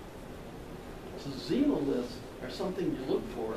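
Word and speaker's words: xenoliths: get melted we call them xenomyths with an x but you pronounce it like a z so zero lifts are something you look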